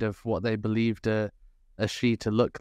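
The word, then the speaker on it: sidh: A she? It is spelled S-I-D-H traditionally, but it is also, you can hear that little tiny root in the creature Banshee.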